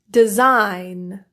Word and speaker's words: design: a word, you can assume that the G is silent. Let's look at some examples. Align, assign, benign, campaign, champagne, cologne, consign, design, feign, foreign, nash, gnat, gnaw, gnome, new, high, light, malign, rain, resign, and sign.